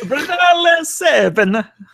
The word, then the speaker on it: Brunale: Brunale7. There's a great interactions on Twitter over the past couple of weeks, but 2 questions from Brunale. You really got to hit the R. Brunale. Roll your R.